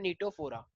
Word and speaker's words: Ctenophora: एक नया फाइल है जिसका नाम है नीतू हो रहा सी इसमें साइलेंट है तो अगर मैं नीड